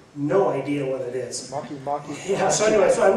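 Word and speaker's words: Makemake: Maki. Yeah. So anyway, so I looked it up, and it was the biggest print on the whole screen, and it's pronounced Maki, and it's actually a minor planet.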